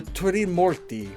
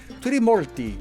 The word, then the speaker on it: Trimurti: and roots from the Turimurti. I'm mispronouncing that. Trimurti.